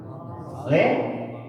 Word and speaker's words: Allah: Hamzah jalal tidak boleh dipanjangkan A-nya. Oke. Tidak boleh dipanjangkan. Tidak boleh ya. Tidak boleh Allah. Ya, itu satu ketika membaca takbiratul ihram. Allah ya. Tapi bacanya Allah.